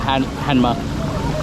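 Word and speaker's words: Hanmer: as well anyway so this is this is spelled like Hammer books it sounds like hanma um yeah I think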